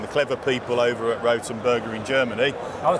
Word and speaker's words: Rothenberger: the situation and the clever people over at rotenberger in Germany I how you say it rotenberger it's Ro the correct pronunciation is rotenberger that's worth you can see the copper can't